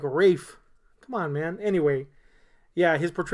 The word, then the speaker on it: Ralph: I don't even know where he's from specifically, but dude, your name's spelled Ralph. I realize Ralph sucks. Yeah, it's not good. But at least spell it different so it's like Rafe.